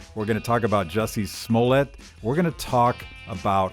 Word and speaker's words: Jussie Smollett: Jussie Smollett.